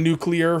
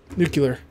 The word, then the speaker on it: nuclear: the the nuclear reactor I know I'm saying nuclear very slowly but I'm just trying to remember to say it properly nuclear cuz like when I say fast it's nuclear yeah I do say nuclear all right well